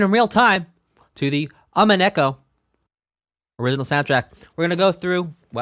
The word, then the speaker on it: Umineko: See, I thought I had it right. Umineko. It was the first syllable.